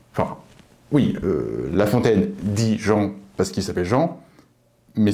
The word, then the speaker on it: gent: le nom le substantif Jean c'est écrit là là là le nom Jean il est conseillé de ne pas prononcer le T vient du latin gen